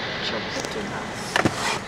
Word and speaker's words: Tchoupitoulas: One word to pronounce. To show pit oolas. Tchoupitoulas.